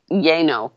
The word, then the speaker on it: Llano: Well, in Texas, Llano is Yano. No, it's Yano. So or Lano. I have no idea.